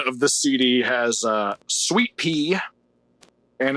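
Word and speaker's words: Suite-Pee: But yeah, side 1 of the CD has Sweet Pea, and it's spelled sweet like a hotel suite, and then pee like peeing, Like and, urine.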